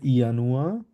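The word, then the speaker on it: Januar: তো জানুয়ারিকে আমরা আম, জার্মানে বলবো হচ্ছে ইয়ানুয়া, কারণ এটাকে আমরা ইয়ট বলি, ঠিক আছে, তো এই জন্য ইয়ার মতো উচ্চারণ হবে, ইয়ানুয়া।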